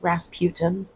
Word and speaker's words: Rasputin: His name is pronounced Rasputin.